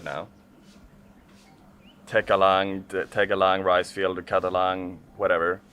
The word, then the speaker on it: Tegalalang: So I think I butchered the name of this place before, but it's called Tegalalang Terrace Rice Fields. Tegalalang Terrace Rice Fields.